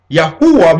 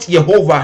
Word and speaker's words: Yahuwah: Yahuwah, which is, they put Jehovah here, but we know that that is not the real pronunciation, because there is a vowels that was being added to it.